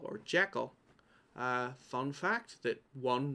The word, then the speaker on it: Jekyll: have such a nerd it's pronounced jiggle in scottish in scotland it's a scottish name a pretty common one still it's pronounced jiggle which is a major